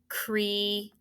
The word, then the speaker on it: create: However, this is one of those double vowel exceptions because you should know, how do we pronounce this word? Create. Right. So cree, this is a long vowel.